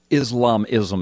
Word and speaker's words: Islamism: House Embrace of radical Islam or is islamism islamism is how you say it I'm sorry radical